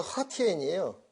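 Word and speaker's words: 和田: 옥 제품, 옥들이 신강성 허티엔이라는 곳에서 난다고 지금 밝혀졌습니다. 거기. 그 신강성 허티엔이 어디냐? 여기 호텐이라고 써진 데가 허티엔이에요. 중국 발음으로.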